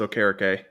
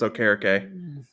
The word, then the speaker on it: Okereke: No, it's he came out in a press conference and said it's Okereke. Oh well, shoot. Okay, well, never mind. People have been pronouncing it wrong for years. It's Okereke.